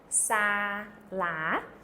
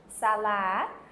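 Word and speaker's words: សាលា: word for school is sa-la. So it'd be sa, S-A-H, the ah sound, and then L-A-H, sa-la. The la is pronounced.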